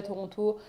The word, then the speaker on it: Toronto: en français je dis vous avez un T au milieu de Toronto que vous ne prononcez pas non plus donc bon he voilà